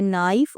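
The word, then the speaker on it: knife: इसे पढ़ेंगे नाइफ और आगे नो। तो यहां इन तीनों वर्ड्स में हमने के को प्रोनाउंस नहीं किया।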